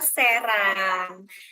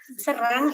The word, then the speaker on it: Serang: Ya, jadi jawabannya adalah kota Serang. Kalau itu Serang, ini Serang. Jadi beda di pronunciation E-nya ya.